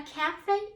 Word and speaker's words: café: you see a word if you know it comes from French you will pronounce the letter A or the H sound as an A a cafe is a type of